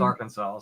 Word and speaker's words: Arkansas: all Kansas on my phone yeah well it's pronounced Arkansas so it says Southern U.S yes it is